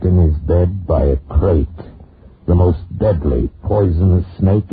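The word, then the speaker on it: krait: of a snake the crate is first the crate they spell it k r a i t they're in India the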